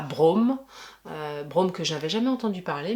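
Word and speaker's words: Broome: Rien à voir, mais t'as dit Brome. Oui, Brome. B-R-O-O-M-E. Et Brome, c'est aussi un personnage de LOL. Ah ouais? Ça s'écrit pas pareil, mais ça se prononce pareil.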